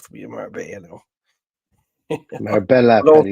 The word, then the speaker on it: Marbella: Marbella, Paddy. You're pronouncing it all wrong. It's Marbella. There's clearly L's in there. Like Marbella for me.